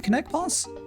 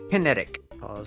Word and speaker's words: KinetikPaws: here um can i how do you say your name connect pause kinetic pause yeah yeah which i guess for